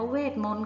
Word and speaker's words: เวทมนตร์: ต่อ ไป คำ ว่า เวทมนตร์ ค่ะ เวทมนตร์ ของ แม่ มด ตัว อะไร หาย ไป เด็ก ๆ ชื่น ผู้ คิด หน่อย ค่ะ ตัว ที่ หาย ไป คือ ต่อ เต่า รอ เรือ เครื่อง หมาย ทัณฑฆาต นะ คะ คำ ต่อ ไป